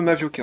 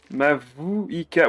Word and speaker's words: Mavuika: Le I, moi, je le mets devant le U quand je le prononce.